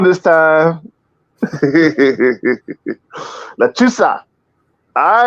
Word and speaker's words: Lechuza: Lechuza? Yeah, it's called lechuza. Lechuza. Okay. Yeah. See, I almost got it wrong, but it's cool. It's cool. We good. I ain't get it wrong this time. Lechuza.